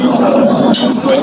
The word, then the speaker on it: Josue: So I don't know if anybody's told you this, and I was trying to see if you were obviously Josue, is that how you say it? Yeah.